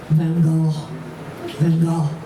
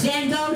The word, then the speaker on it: Van Gogh: Van Gogh. That's how they pronounce it in French. Van Gogh. But it's Van Gogh to us, right? Because we're not there in France.